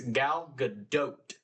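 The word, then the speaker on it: Gal Gadot: It's not dot. It's galadote. So, like boat with a D.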